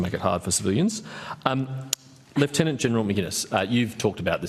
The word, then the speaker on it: Lieutenant General: Lieutenant General is the correct pronunciation, isn't it?